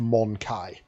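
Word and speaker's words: Mon-keigh: Um my understanding is that it's pronounced Monai. We we to them we are the Monkai, but in this they definitely emphasize the mon the monkey part.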